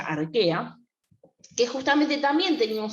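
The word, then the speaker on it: Archaea: dominio al que a que se escriben a rocha a ella pero se pronuncia arquea que justamente también tenía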